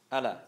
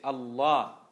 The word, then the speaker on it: Allah: You don't say how non-Muslims say Allah. Allah. That's how they say Allah, isn't it? No, you say Allah.